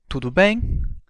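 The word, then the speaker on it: tudo bem: used as a universal greeting that phrase is to bang let's break it down by syllable to bang now let's hear it again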